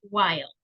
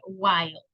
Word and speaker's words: while: By the way, the pronunciation is while. Okay, no es will ni will, sino que while.